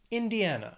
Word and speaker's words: Indiana: The next state, Indiana, has four syllables, stress is on that third syllable, Indiana.